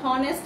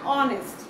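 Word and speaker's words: honest: পারবে এবার আমি আরেকটা যাব দি ম্যান ইজ অনেস্ট হ্যাঁ মনে করো দি ম্যান ইজ অনেস্ট এই উচ্চারণটা আমরা অনেকেই ভুল করি আমরা হনেস্ট বলি অনেক সময় না এটা হটা অর মতো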